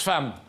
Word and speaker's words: femme: C'est-à-dire qu'il apprend à lire et à écrire, et l'instituteur lui dit, un jour, comme à ses camarades, F-E-2-M-E se prononce femme.